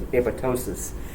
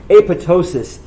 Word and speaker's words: apoptosis: something that's known as apoptosis uh just so you know the second p is silent if you say apoptosis you sound like a hit that's my feeling though apoptosis is a very specific